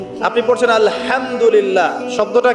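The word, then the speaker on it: الحمد لله: আপনি পড়ছেন আলহামদুলিল্লাহ, শব্দটা কি? আলহামদুলিল্লাহ। এই হা এর মাখরাজ কোথায়? হা এর মাখরাজ কোথায় বলেন একজন? কণ্ঠনালীর মাঝখান থেকে। এখান থেকে আপনি উচ্চারণ করছেন আলহামদুলিল্লাহ রাব্বিল আলামিন।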